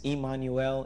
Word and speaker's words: Immanuel: well in the Spanish in Hebrew it's Immanuel in Spanish it's Emmanuel okay God with us so